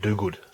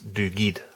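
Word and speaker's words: McDougall: of my surname, because I always thought it was pronounced Dogood, but it's not, it's Doogid. You don't pronounce the second U.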